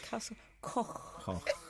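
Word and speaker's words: Castell Coch: Castle Coch. Nice. Good pronunciation.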